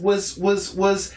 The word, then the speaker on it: was: Was, with a Z sound.